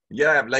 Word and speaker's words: jävla: Jävla idiot. Jävla idiot. Yeah, so it's spelled old spelling, you would have a DJ, but din jävla idiot.